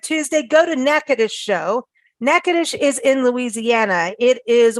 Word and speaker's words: Natchitoches: place and I can't pronounce it but it's nakadish and it's spelled n-a-t-c-h-i-t-o-c-h-e-s but it's pronounced so it's not Natchitoches it's nakadish it was founded in 1714 and it is